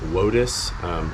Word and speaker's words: WOTUS: of the United States, also known as WOTUS, rhymes with POTUS, and the Colorado River watershed situation happening.